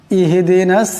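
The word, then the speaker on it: اهدنا: আসলে উচ্চারণটা হলো ইয়াকা না'বুদু ওয়া ইয়াকা নাস্তাঈন ইহদিনাস সিরাতাল মুস্তাকিম। ইহদিনা, এখানে ইহ ছোট হা আছে, বড় হার মতন উচ্চারণ করা যাবে না।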